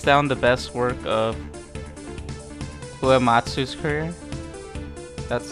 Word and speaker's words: Uematsu: 8 is hands down the best work of Uematsu's career.